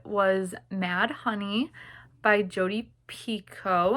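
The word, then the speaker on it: Picoult: mad honey by Jodie Pico I think her last name is pronounced and Jenifer finny boin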